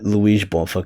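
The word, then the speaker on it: Luiz Bonfá: track yeah yeah well technically Luis boner or LS boner but I say like Luis boner cuz it's like the Portuguese pronunciation and he's Brazilian and so and it's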